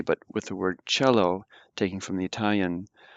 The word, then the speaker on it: Cello: as a hard C but with the word cello taking from the Italian it's pronounced softly so mid feel like I listen